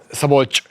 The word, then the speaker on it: Szabolcs: It's a very difficult word for me to pronounce as an English speaker. The SZ is a that's it. Yeah. Szabolcs. Sabo. This is the hard part. Szabolcs.